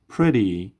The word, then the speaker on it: pretty: Pretty. T در وسط به شکل د تلفظ میشه. double T.